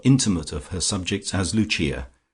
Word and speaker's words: Lucia: of her subjects as Luchia, pronounced, of course, in the Italian mode luchia, the wife of Lucas.